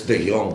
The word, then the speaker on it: De Jong: I said it before a long time ago, in Dutch language, a J is silent. And that should be easy for everyone because we're Filipinos and we pronounce the J's with, the H's anyways, right? So it's De Jong.